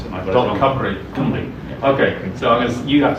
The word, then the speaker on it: Cymru: Should it be running, and I don't want to say the Welsh name for .Wales, because you know how to pronounce it. Cymru.